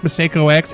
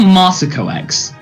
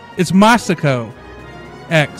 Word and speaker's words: MasakoX: criticizing how I pronounce Meo X am I doing it wrong it's it's more maso X maso oh um now I start to wonder it's maso X yes see I Sayo